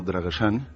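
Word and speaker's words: Drăgășani: Y entonces esta chica me contaba que ella de pequeña se crió en el pueblo de sus abuelos, un pueblo llamado Dragosani, en pronunciación rumano Dragosani, que es un pueblo que está situado en Valaquia, pero cerca de las estribaciones meridionales de los Cárpatos.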